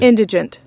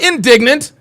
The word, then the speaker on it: indigent: Not indignant. Not indigenous. It's indigent. Indigent.